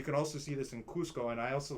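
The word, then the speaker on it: Qosqo: In Spanish and Portuguese and French, they say C-U-S-C-O. Now, in Quechua, they spell it Q-O-S-Q-O, usually with an apostrophe in the middle. But it's pronounced Cusco, so it's almost the same.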